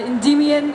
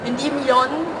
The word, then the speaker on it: Endymion: Also hauptsächlich um die Betonung. Okay. Ist halt das eine auch mit O und jetzt das andere mit IE. Genau. Endymion und jetzt ist es Endymion.